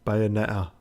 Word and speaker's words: Bayonetta: Bayonetta. Give me a cornetto. It's got 2 T's in it. At least pronounce one of them, you fucking muppet.